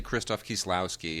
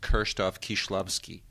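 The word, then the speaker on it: Krzysztof Kieślowski: are a lot of those like we say kristofh kislowski it should be pronounced kroff kishlovsky you know and I mean you could really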